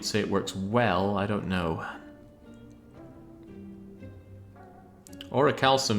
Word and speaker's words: Orichalcum: Orichalcum is pronounced with a hard C. I have heard it said as Orichalcum. I don't like that. I think it should be a soft C, Orichalcum. So that's what I say.